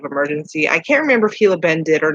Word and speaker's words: Gila Bend: Most of you will not know that it's pronounced Gila Bend because it's spelled Gila, but it is pronounced Gila Bend.